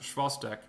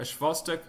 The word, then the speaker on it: Chvostek: That's Chvostek, or presumably it's pronounced Schwostek.